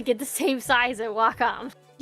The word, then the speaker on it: Wacom: I've heard a lot about, I don't know how to pronounce it, like Wackom or WHcom. I say Wacom.